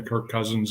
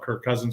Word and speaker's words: Kirk Cousins: in the lobby so I had to look up the right pronunciation of his name so in case I saw him that I you know I didn't call him perk or perch and um I went